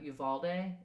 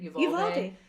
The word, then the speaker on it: Uvalde: They were a part of a large cotton farming family in Uvalde. Is that how you say it? Uvalde.